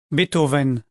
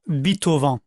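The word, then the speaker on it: Beethoven: Bethoven, ne prononcez pas Bitovan.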